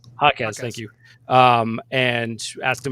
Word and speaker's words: Jaquez: Yes, and there was a little bit of audio basically around Tatum was talking to the rookie Vasquez or whatever. I'm not pronouncing that right. Jaquez, thank you.